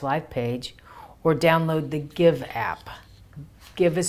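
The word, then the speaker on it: Gyve: As we give, we shall receive.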